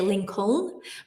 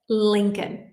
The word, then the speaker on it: Lincoln: And a lot of people try to say Lincoln, but Lincoln. It's one of these words. Just trust me on it.